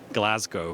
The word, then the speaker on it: Glasgow: i have to say this is my hometown it's pronounced glasgow i'm sorry i know it's uh it's an american thing we're trying to get it right uh it's just a havoc because i think we've heard it both ways go on give